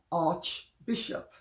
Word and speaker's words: archbishop: And in Greek, and even in English, arch followed by a vowel is the CH is pronounced K. If it's followed by a consonant, it is pronounced CH. So you have archangel, Yes. but you have archbishop. Archbishop.